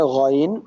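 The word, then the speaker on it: غين: এরপরে গইন, এটা গ, আমাদের বাংলা যে গ, সেই গটাকে আমরা উচ্চারণ করছি, কিন্তু কি করলাম আবার, একেবারে জিভের শেষে এসে ওইখানে প্রেসার দিচ্ছি। গইন, হ, হ, হ, হ, গলগলা যে ঘ, এরকম গইন।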